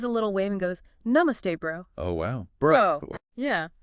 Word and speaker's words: namaste: Level one, namaste. Pronounced namaste.